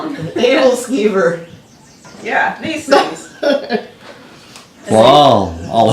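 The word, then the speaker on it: æbleskiver: Scrambled eggs and sausage links and these little round donuts that I don't know how to pronounce the name of. What do you call them? Edelskiever.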